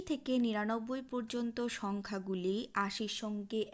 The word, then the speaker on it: cent: ১০০ সংখ্যাটির উচ্চারণ কি? সঁ, CENT, সঁ।